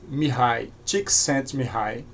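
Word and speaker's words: Mihaly Csikszentmihalyi: Foi escrito por este autor de nome muito difícil, que a pronúncia parece Mihai Csikszentmihalyi.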